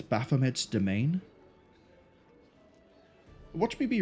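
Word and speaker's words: demesne: Fun fact, that's pronounced domain. Domain. It's one of those words where it's really weird and it's old, and if you don't know it, then you can easily be forgiven for pronouncing it as like demence. 90% sure it's domain.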